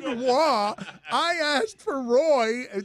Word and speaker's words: Roy: I love that Stugatz joke because it's not pronounced Patrick Roy. What? Like you were Chris said wah.